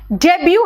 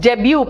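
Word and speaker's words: debut: एंड बसल ठीक है डेब्यू है इट इज नॉट डिब इट इज डेब्यू पहला परफॉर्मेंस जो होता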